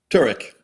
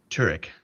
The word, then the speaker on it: Turek: Did I pronounce your last name correctly? Turk. Turk.